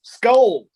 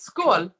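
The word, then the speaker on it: Skål: right now salute everybody skull skull SK SK indeed SK I can never say it right can I Yan you're pretty damn close it's it's school which is good SK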